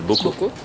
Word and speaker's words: BOCO: Et c'est dans des bocaux, c'est pour ça que ça s'appelle bocaux. Voilà. Même si ça s'écrit pas comme ça normalement bocaux. B-O-C-O.